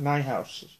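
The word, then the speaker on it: Niehaus: cosima's is purple casima my house I guess is how you say n-i-e-h-a-u-s I'm sure she said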